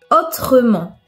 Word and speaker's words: autrement: une chaise une idée si le E est précédé de deux consonnes et suivi d'une autre consonne il doit être prononcé exemple autrement justement tristement une crevette